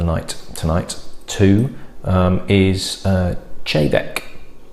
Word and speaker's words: Te Bheag: easier to say but it is pronounced even though it's t-e-b-h-e-a-g chavec because this is gaelic um and it's actually